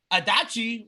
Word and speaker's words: Adachi: No, it was actually in Tokyo, Japan at the Adachi Ward Gymnasium. I That was googled my how other to pick. translate Where? Adachi, but yeah, that's how you say it. Hitachi, Adachi. like the TV.